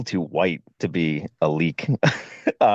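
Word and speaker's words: leyak: It's called Leak. L E Y A K. Really? Yeah. Or Leak. I think you say it leak.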